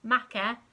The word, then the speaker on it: make: So the e is silent, but it turns the a into an a sound. So it's not m, a, k, e, make, it's m, a, k, make.